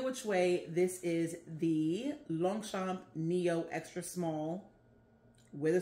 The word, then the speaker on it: Longchamp: Yes, it's spelled Longchamp, but it's French and it is a French brand. So they pronounce it Longchamp.